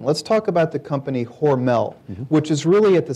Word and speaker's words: Hormel: It's worth noting right off the bat that the family still pronounces the name Hormel. It's a German name, not a French name, as the company was